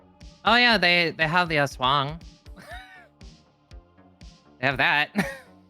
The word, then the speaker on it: aswang: Oh yeah, they have the Aswang. They have that. It's Aswang. Aswang.